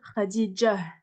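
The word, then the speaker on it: خديجة: mais en fait le le Tamar quand on finit le mot on le prononce pas on va dire Khadijah Khadijah mais bon bref on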